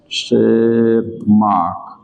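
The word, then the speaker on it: Tschermak: तो शेरमार्क में T silent रहता है, TSEH, शेरमार्क, MARK, जो भी स्पेलिंग होगी।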